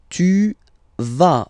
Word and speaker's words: vas: Tu vas. Final S doesn't exist. Tu vas. Tu vas.